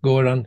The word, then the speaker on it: Göran: I could call you Göran, now, did I pronounce that right? Yeah, Göran.